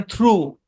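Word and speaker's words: through: তারপর দেখেন থ্রু, থ্রু, থ্রু মানে হচ্ছে মাধ্যম আর কি। তো এখানে ভাওয়ালের পরে জি এইচ আছে, জি সাইলেন্ট। ভাওয়ালের পর জি এইচ থাকলে জি তো সাইলেন্ট সাইলেন্ট এবং এইচ ও সাইলেন্ট, মনে রাখবেন।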